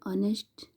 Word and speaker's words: honest: annie an honest reply note that in honest the letter h is silent we say ownish which